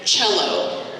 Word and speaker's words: cello: The examples they give are cheek, so spelled with a CH, watch, spelled with a TCH, same sound, and cello, spelled with one C, all the same sound.